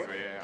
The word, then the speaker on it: Duolingo: And we've got Duolingo. Did I That's pronounce it correct, properly? Duolingo, yeah.